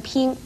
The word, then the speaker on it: 娉: 字，但是这个聘字又念聘，颇应聘一声聘。娉婷是指女子的容貌体态都很美而言，所以娉婷不可以念成聘婷，而驰骋